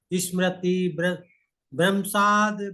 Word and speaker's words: स्मृतिभ्रंशात्: इसको और उच्चारण करिए गुरुजी। क्रोधात् भवति, क्रोधात् भवति, क्रोधाद् भवति सम्मोहा सम्मोहात् स्मृति विभ्रम स्मृति भ्रंशात् बुद्धिनाशो बुद्धिनाशात् प्रणश्यते।